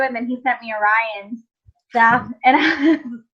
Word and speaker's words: Orion: And so I was listening to all your stuff, Orion, and also, am I pronouncing it right, Orion? Yeah, it's like the constellation.